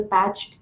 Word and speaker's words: PTCH: PTCH gene, which is very commonly, it's pronounced as the patched gene.